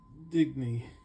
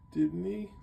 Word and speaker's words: Dibney: And that was the detective story, and he does talk about his wife, everyone's favorite character, Sue Denby, right? Digny, right? I keep saying it wrong. Sorry, guys. Dibney.